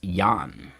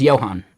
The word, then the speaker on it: Johan: Because I've also met some people in the snowboard world where it's actually pronounced Yan.